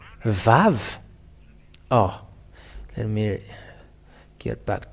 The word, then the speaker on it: vav: uh the the the VAV the VAV um because it is called as VAV it is pronounced as a v even in araman or Square Hebrew they all say that this is a V and that is to